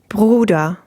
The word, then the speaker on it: Bruder: So this is a good word for practicing the R sound, right? Because it contains both kinds. You get the gurgling R sound at the beginning and the open R at the end.